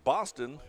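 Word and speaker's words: Bostyn: Boston, by the way, is spelled B-O-S-T-Y-N.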